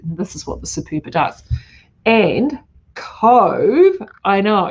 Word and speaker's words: Superba: I call it the Super Bar because it's actually pronounced spelled SUPERBA, but it's Superba.